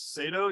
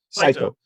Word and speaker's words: Saito: It was James Sato. You said is that how you pronounce? Saito. Saito Yeah.